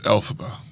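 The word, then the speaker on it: Elphaba: I think I originally pronounced it faba or ila, but I I'm pretty sure everyone's favorite sister Jen said it's alphaba.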